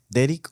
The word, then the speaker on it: Derrick: Se dice así como Derrick o Derrick. Derrick.